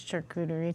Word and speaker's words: charcuterie: That's a nice charcuterie tray.